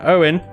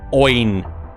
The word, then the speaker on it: Owen: If you didn't know, you pronounce that Owen, not Oin. If you like, Oin Mayher, or just Owen. With a spell Oin. Yeah. It's weird. He's Irish. So you can forgive him.